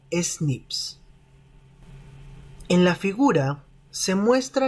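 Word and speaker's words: SNP: secuencia de un gen estas variaciones también se pueden pronunciar como snips en la figura se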